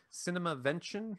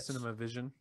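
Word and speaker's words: CinemaVention: uh that that website it's cinema vention not cinema vision so it's like well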